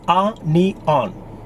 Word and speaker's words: onion: This is not onion, it's onion.